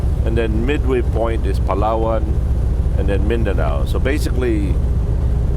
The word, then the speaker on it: Palawan: gonna stop over in Palawan Island it's actually pronounced follow-on or palawan yeah it's